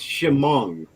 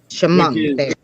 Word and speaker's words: Shamong: off for some reason it's Shamong Shamong yeah it's named after the Shong River the county is named out from the Shamong river right okay so I did say it right so yeah Shong just